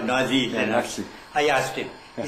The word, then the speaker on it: Nazi: Nazi. I asked him. He said, in my country, Z is equal to TS.